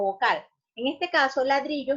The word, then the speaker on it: ladrillo: En este caso, ladrillo es una palabra grave porque su última, penúltima y antepenúltima. Las graves llevan el acento en la penúltima sílaba.